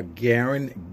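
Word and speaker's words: Gearen: my facebook page our Garen my name is not spelled like it sounds it's actually GE ar e n and then my last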